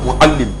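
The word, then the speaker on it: معلم: mamekyerɛ mu yɛka no muallim yɛnka sɛ malam Arabic pronunciation yɛka sɛ muallim yɛka sɛ muallim a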